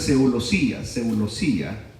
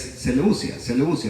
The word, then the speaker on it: Seleucia: esta palabra, de Seleucia, porque algunos dicen Seulosía, y es Seleucia, así se pronuncia, Seleucia.